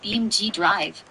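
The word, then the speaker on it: BeamNG.drive: Now that we've got the pronunciation down, I'm intrigued. How intense are the crashes in BMG Drive?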